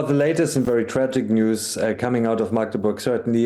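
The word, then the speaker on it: NIUS: Oh, it's pronounced news. I beg your pardon. I thought NUS, the National Union of Students.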